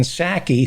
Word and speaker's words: Psaki: white house press spokesman jenn sackey whose p is silent she was pissed off